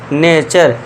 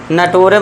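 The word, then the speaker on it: nature: जैसे कि देखिए इसे हम पढ़ेंगे नेचर नटोरे मत कर देना या फिर नेटवर्क लाल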